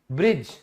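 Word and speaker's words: bridge: आपको अब पता चल गया कि डी साइलेंट होता है। यहां पर रूल क्या है कि डी के बाद जी आया है। ब्रिज ठीक है?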